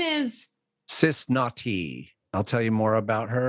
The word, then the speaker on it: Nau T: Naughty is spelled how? N-A-U space T. Sis, like sister, Naughty.